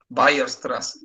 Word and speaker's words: Weierstrass: Weierstrass. La W se pronuncia como V corta en alemán.